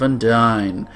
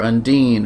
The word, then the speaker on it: Undine: grotto in search of and dine or Undine or Undine or however you want to pronounce it this time we are